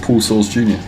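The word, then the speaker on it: Paul Soares Jr.: I think it's just Paul Source Jr.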